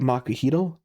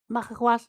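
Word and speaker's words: macuahuitl: Um, makaw. There's like a you do the it's not it's not like tl like it's like you do an L where the T would be in your mouth.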